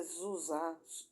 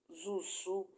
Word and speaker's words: Zuse: Na década de 1940, Konrad Zuse, pronúncia Zusa, Zusu, o homem a quem se